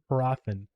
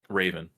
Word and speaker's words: Hrathen: It's Raven with a Like very subtle H sound at the beginning. So Raven. Hrathen. Craven. Hrathen. Raven.